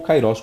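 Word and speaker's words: καιρός: Porque o tempo aqui no grego é kairos, ou kairos, como alguns queiram pronunciar.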